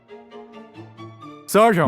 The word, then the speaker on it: surgeon: You don't pronounce the E, it is just surge, and then on. Surgeon.